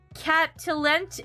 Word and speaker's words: Cat Talente: Cat Talente. It's like Cat and Caliente put together.